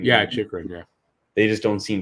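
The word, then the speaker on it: Chychrun: They were looking to shop Chikrin, I think is how you pronounce his last name. Yeah, Chikrin.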